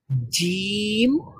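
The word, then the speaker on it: جيم: আচ্ছা, the middle of the tongue মানে আমাদের জিহ্বার একবারে মধ্যভাগটা যখন মিডল অফ দ্য প্যালাটে গিয়ে টাচ করবে, তখন আমরা উচ্চারণ করতে পারবো জিম।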